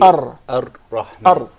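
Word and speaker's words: الرحمن: when we said that the unwanted repetition or rolling of the ra. So say Ar-Rahman. Actually, you pronounced several ra. It wasn't just one. It should said be Ar-Rahman.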